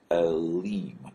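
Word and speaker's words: אלים: Now the plural form of this is Elim. This is a long E sound with this vowel mark and the yod and then the final mem.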